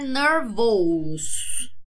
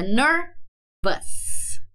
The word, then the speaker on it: nervous: E a pronunciation não é pra falar nervous, ok? Aqui é um schwa no alfabeto fonético. É que minha internet não tá aqui coisando. Senão eu ia abrir o Cambridge pra gente ver o símbolo fonético. Mas é nervous.